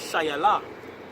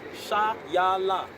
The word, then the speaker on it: Shiloh: By the way, the pronunciation for Shiloh in Hebrew is Shayala. Shayala.